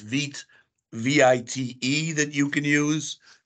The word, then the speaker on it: Vite: There's a newer thing that's called, I believe it's pronounced Vite, V-I-T-E, that you can use.